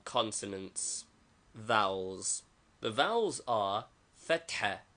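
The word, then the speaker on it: فتحة: The vowels are fatha, a, pronounced like the a in hat, and dhamma, u, as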